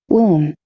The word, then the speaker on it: womb: womb, Womb. Womb. B não pronuncia.